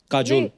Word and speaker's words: काजोल: unique नाम है आपका काजोल काजोल है ना बट काजोल होता है काजोल बंगाली में काजोल में ऐसी उसका प्रोनाउंस िएशन ऐसा है पर बड़ा अच्छा लगता